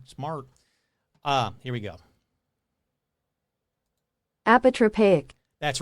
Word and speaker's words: apotropaic: he's not very smart uh here we go apotropaic that's right apotropaic another or other apotropaic which